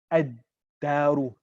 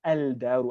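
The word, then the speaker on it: الدار: Ash-shamsu, ad-daru, ad-daru. I don't say al-daru, I say ad-daru because of the pronunciation origins of those letters.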